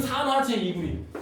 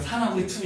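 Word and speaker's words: 산화제이구리: CuO는 산화제 2구리. CuO는 산화제 2구리. 야 이거 어디 가서 산화구리 2 이렇게 읽지 마. 무식하다는 소리 들어. 뭐라고 읽는다고? 산화제 2구리.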